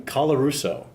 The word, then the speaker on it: Colarusso: We're here talking to John Wells about his article on McMaster Professor John, how do you pronounce his last name? Colarusso.